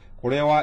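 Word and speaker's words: これは: 그다음에 이거 하가 아니고 와로 읽어야지 되겠죠. 는 이렇게 조사로 읽을 때는 하가 아니고 와라고 그랬어요. 그러니까 고래와 이렇게 되겠죠.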